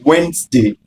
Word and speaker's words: Wednesday: be but wait a moment ensure that your pronunciation of Wednesday is correct not W next day is Wednesday